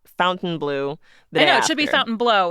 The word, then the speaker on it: Fontainebleau: Blue it should be Fountain blow it's another I know it's it's so confusing but it's uh they pronounce it Fountain Blue Fountain Blue okay and yeah I